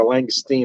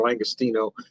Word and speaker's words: langostino: we picked up the the Lustine or langostino depending on how you choose to pronounce it the Frozen you know